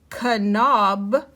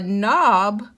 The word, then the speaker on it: knob: a rule breaker so let's read it with the k silent not heard the knob would not turn so she knocked on